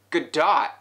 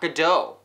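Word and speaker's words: Gadot: apparently it's pronounced good dot and knock Godot bad movie fans Wonder Woman is the latest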